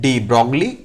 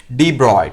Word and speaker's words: de Broglie: रहे हैं यहाँ पे, ये जनरली हम ऐसा ही नाम यूज करते हैं डी ब्रॉगली, ताकि स्पेलिंग प्रॉपर रहे, बट इसका एक्चुअल प्रोनाउंसिएशन हमें पता होना चाहिए। क्या होता है एक्चुअल प्रोनाउंसिएशन बच्चों? डी ब्रॉय।